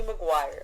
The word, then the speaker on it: Maguire: you i know is toby maguire okay because it rhymes with lizzie mcguire and he was spider-man